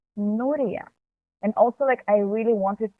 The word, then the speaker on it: Nuria: In English or Spanish, we pronounce it as Nuria.